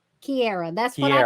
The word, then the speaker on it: Kierra: Kierra. Kierra. That's what I Kierra.